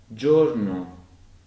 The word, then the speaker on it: giorno: the day so again in five jolie and Giorno we get g i oh so the combination of the g and I terms the found soft three get five Johnny